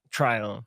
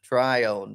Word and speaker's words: Trione: do you say your last name to Trion try on try on Mr Jake Tryon I met Jake about a